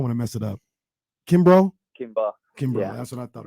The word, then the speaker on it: Kimbrough: again I don't want to mess it up Kimbrough Kimbra that's what I thought it was um